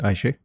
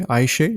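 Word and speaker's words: Ayşe: Aisha, am I pronouncing your name right by the way? Aisha, is that right? You're doing it beautifully.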